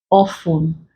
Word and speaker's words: often: to Castle wrestle whistle it is also silent in words like listen facing often words like soul food glisten